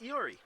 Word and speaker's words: Iori: Remember, that is spelled I-O-R-I. There are no L's in this name.